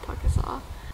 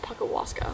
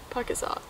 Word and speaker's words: Pukaskwa: I really really like pakasa I was saying the name wrong for so long I was calling it Paka Wasa like just adding syllables but anyways pakasa um tomorrow I weather